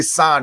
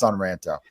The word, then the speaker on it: Son Ranto: Nation I should say I always want to say San because it rhymes with Ron but I know it's sunranta everybody does it I'm